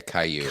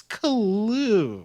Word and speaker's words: Caillou: Yeah, Caillou. I knew she was saying it wrong. Caillou. Oh, I like Kalu. It's Kalu.